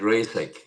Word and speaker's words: Reisek: And yours is not rice but reek.